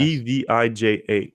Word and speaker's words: Evija: How do you pronounce that? The Lotus. They unveiled their new hypercar, all electric hypercar. Avija, Well, Avija, I guess. Evija, Avija.